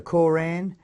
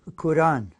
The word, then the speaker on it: Quran: a L AM Islam and it's not the Quran it's pronounced Quran the Quran phonetically spelled Qur - a in